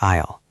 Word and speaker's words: aisle: You pronounce it like aisle. Ah, English spelling is tricky.